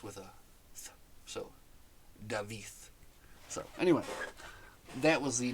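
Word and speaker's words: Dafydd: and the Double D at the end is pronounced with a so David so anyway that was the non-spoilery section of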